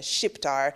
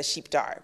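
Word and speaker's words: shqiptar: it becomes like a shift r instead of sheepdar which is how you would say it in albanian and so many people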